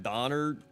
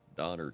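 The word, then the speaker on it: Döner: that's what I thought no it's spelled D o n e r donor Kebab spe barge crew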